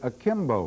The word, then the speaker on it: akimbo: Buzz Bragg wrote about the limmerick I composed last week and pointed out that the word akimbo rhymes with Jimbo and limbo.